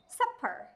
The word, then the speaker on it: supper: Và tiếp theo đó là supper. Supper. Trọng âm rơi vào âm tiết đầu tiên, thế nên âm ER chúng ta sẽ được viên âm là ơ ngắn.